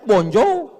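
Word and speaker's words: bonjour: Emangnya bahasa Perancis mudah tulisannya bon jowur. Bacanya bonjou. Bon soir, bonsoa.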